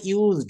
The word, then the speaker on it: used: টু ব্যবহার করবেন ইউ এস ওর পরে ইডি উচ্চারণটা হবে ইউজড একটি ডি আসবে সাউন্ড বাংলায় ডলি ডি কিন্তু